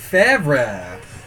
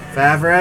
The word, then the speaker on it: Favre: Brett Favre.